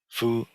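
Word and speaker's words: 佛: um Buddha food Buddha Foo not so the character for Buddha is pronounced Foo and the component uh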